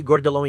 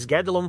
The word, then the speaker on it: Guédelon: Em relação à pronúncia, já ouvi Gordelon e Gedelon, mas Gedelon parece ser a forma como os franceses pronunciam, então vou ficar com essa.